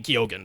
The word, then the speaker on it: Keoghan: Everyone says his name should be pronounced Barry Keegan, but in his own interviews he he pronounces his own last name Keoghan. So, Barry Keoghan.